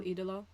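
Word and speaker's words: Ídolo: Andrade El Idolo.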